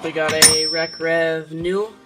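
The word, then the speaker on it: Naue: Next up, we got a Rec Rev New, N-A-U-E, pronounced new. I thought it was Nai or some crap like that.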